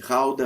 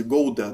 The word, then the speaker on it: Gouda: Gouda as well, where they make cheese. So they have a street market with cheese. So the cheese Gouda that we say in Brazil, we pronounce Gouda in Dutch.